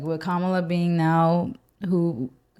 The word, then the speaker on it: Kamala: I feel like I keep saying her name wrong. Kamala, right? It's Kamala.